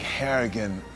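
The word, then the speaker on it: Harrigan: now I I think haragan rhymes with arrogant in some sort of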